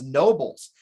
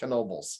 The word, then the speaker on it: Knoebels: was a creative one everybody especially schuylkill county calls us nobles they don't pronounce the k like okay right so we did the k just to emphasize we do it's it's knobles how old is that